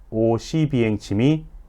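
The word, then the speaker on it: Oświęcim: 저는 이 책을 읽으면서 처음 알게 되었는데 아우슈비츠는 독일어식 발음이고 실제로는 폴란드에 있으니 폴란드어 발음인 오시비엥침이 아우슈비츠의 현지 발음이란 것을 알게 되었습니다.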